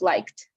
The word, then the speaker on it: liked: So the correct pronunciation is liked, just like that.